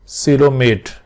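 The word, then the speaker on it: coelomate: ये ओ साइलेंट है यहां पे, सिलोमेट।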